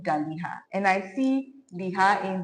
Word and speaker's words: Daliha: The pronunciation is Daliha. Daliha. That is how. Daliha.